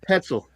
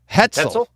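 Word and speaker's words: Hötzel: on me for that hetel hetel think of rhyming with pretzel so it used to have an or could have an umlout on the o without oh okay so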